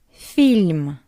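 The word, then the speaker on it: фильм: Film. Film. You can notice that we have E after F and the soft sign after L. That's why F and L are soft film.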